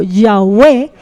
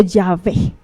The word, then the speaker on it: Yahweh: Más adelante, en el hebreo moderno, ahí sí fue que le dieron vocales y se pudo pronunciar como Yahweh o Yahvé, que significa el gran yo soy.